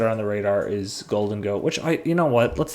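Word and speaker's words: Gholdengo: The H in Golden Go. It's GHO, like ghoul. And I was like, I don't... Anyways. Yeah, anyways. Okay, so Golden Go.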